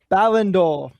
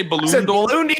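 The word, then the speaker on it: Ballon d'Or: Ballendor.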